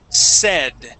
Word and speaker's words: said: first up we have said instead of saying s and using a long a it is a short e sound SE said said all right good job